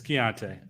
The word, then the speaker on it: Keontae: It's Keontae. I heard him say his name himself. Yeah. Oh, really? I didn't know that. I thought it was Kanata. It's like not even spelled close to that.